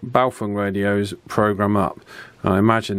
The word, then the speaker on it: Baofeng: that all your other balung and that is the correct way of of pronouncing it balung radios program up I